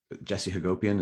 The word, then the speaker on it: Hagopian: Now, we mentioned at the beginning of this book, Black Lives Matter at School, that you co-edited with Jesse Hagopian. Is that the right pronunciation?